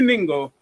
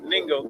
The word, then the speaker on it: Ningo: But we're actually in New Ningo, N-I-N-G-O. Rhymes with bingo with the N.